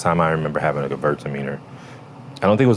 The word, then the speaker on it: Gewürztraminer: But what I heard recently, even though I've already learned to pronounce that correctly, was to break it into two words. Gewürztraminer. Gewürztraminer.